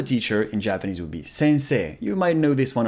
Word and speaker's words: sensei: it's s-n-s-e and so some people would say sensei sensei but it's actually a long e sensei sensei and in korean it's